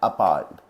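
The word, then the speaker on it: appalled: अपाल्ड, इसका सही प्रोनाउंसिएशन है अपाल्ड।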